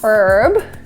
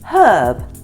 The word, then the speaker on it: herb: Herb. I think herb was like the French pronunciation. Yeah, it comes from the French.